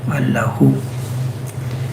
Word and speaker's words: Allahu: Allahu is long, but we do Allahu. Just who is the last syllable which is more important.